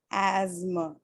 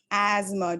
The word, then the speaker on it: asthma: to us okay yes there is a s t h the sound and then there is m okay but listen to it how it's pronounced asthma asthma do you see the uh schwa over here asthma oh okay everyone's